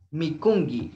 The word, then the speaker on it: mikunki: Pero el mikunki se pronuncia kan. Mikungi, la última K se pronuncia con la G.